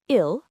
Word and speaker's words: il: For he, we say il, spelled i l, and for she, it's elle, e l l e.